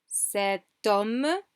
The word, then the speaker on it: sept hommes: Sept hommes, sept hommes. We pronounce the T, but we just link it to the next word.